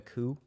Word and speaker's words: coup: is not like the coup the coup the coop they're let's pronounce like a coup to like overthrow that's how you say it the coup yes uh so the